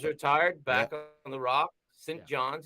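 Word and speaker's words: St. John's: back on the rock saint john's he said john's he doesn't say st johnson johnson yeah you got to say it right yeah so i haven't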